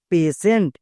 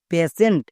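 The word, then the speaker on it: patient: না তাই ভুল হই টি আই ই এন টি এর জন্য আমরা উচ্চারণ করব সেন্ট পেশেন্ট পেশেন্ট মানে হচ্ছে রোগী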